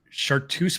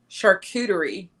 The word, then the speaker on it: charcuterie: It's a chartreuse board. Charcuterie. Thank you. Charcuterie.